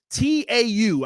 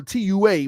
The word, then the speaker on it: tau: buildup of Tau protein t-a-u I may be pronouncing that wrong but it ain't too a tua but it's t-a-u Tau protein there is a protein